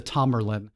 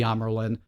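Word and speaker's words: Tamyrlin: and yes that's the that's not me mispronouncing that they do call the uh her the the tommerlin not the amerlin um and notably lotra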